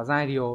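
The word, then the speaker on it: 材料: Cái này phải đọc là jaidyo mới chính xác.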